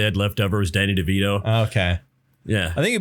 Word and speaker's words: DeVito: this movie where Danny DeVito and Arnold Schwarzenegger are twins. I accidentally said DeVino. Yeah, you did. DeVito. I put a soft T in. It was the T is silent.